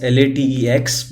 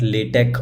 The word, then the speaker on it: LaTeX: It's spelled as LATEX, but it is pronounced as LaTeX or LaTeX, as you can see here.